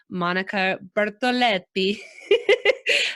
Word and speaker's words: Monica Bertoletti: us and i just asked her how to pronounce her name and i had a little fun practicing so welcome monica bertoletti i thought was so fun to say that